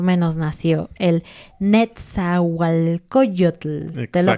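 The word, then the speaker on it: Nezahualcóyotl: En qué año más o menos nació el netzualcoyotl te lo pronuncié muy para que intentes decirlo esto obviamente es un hombre indígena y por lo tanto es dicil Pero puedes practicar decirlo y muchas personas dicen nalot no ajá No pronuncian la nco Pero bueno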